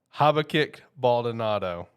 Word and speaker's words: Habakkuk Baldonado: Habakkuk Baldonado. There you go. That's how you pronounce it. The more we know. All right, we just learned something here today. Habakkuk.